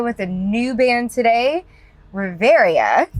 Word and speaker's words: Reverya: I am here with a new band today, Riveria. Did I say it right? I keep saying it wrong. No, you said it.